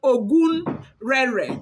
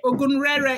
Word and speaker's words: Ogun Rere: Then there is another one called Ogun Rere, okay? Ogun Rere is spelled O-G-U-N-R-E-R-E, okay?